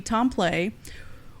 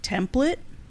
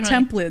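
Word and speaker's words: Templet: 18 year old anthony tomplay which his name looks like it would be pronounced like template i noticed that some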